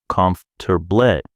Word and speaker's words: comfortable: Think about the word comfortable. In English, it's four syllables, but native speakers say it fast. Comfort, three syllables. The mouth compresses it.